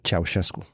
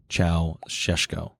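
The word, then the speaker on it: Ceaușescu: So what is the actual pronunciation? Ceausescu. Ceausescu.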